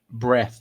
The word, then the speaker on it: Bright White: A pronúncia correta. Breath aí.